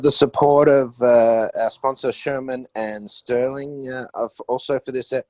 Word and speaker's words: Shearman: of the financial services industry group at uh chairman sterling am i pronouncing that right barney shearman yeah that's right and uh yeah yeah thanks